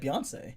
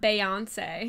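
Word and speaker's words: Beyoncé: mom said who's beonce that's how you say it Beyonce beon not beonce be same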